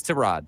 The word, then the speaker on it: Tyrod: I'll say it right. Tyrod Taylor. Tyrod. It's Tyrod. Tyrod Taylor. He said Baker Mayfield says that it's Tyrod Taylor, and I believe him.